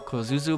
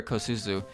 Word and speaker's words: Kosuzu: i guess motori kozuzu sometimes i trip over my letters when you get s-u-z-u together like that kozuzu or kosuzu sometimes i forget which comes first and then you kind of mix and match them and you'll have to